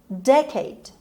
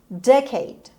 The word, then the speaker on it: decade: این کلمه یک تلفظ دیگه هم داره. اینجا من این تلفظی که براتون نوشتم decade استرس اولش هست. یک تلفظ دیگر هم در دیکشنری میتونید ببینید decade که اونجا استرس روی که هست. هر دو تلفظ هم درست هست، بریتیش امریکن هم نیست. هر دوتا رو میتونید بگید.